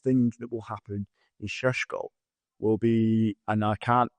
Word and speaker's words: Šeško: And obviously, for the first time, and we need to pronounce this correctly, mate, including the Mbeumo, Benjamin Šeško. We're going to the disco with Šeško.